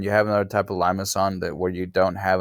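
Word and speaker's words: limaçon: that's by the way that's pronounced limas on all right the the C has a little tail on it so is limas on and you're gonna have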